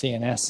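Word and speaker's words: Sciennes: then Marchmont I think I think it's pronounced CNS it's a S c i e n m e s ne fresh rockfall on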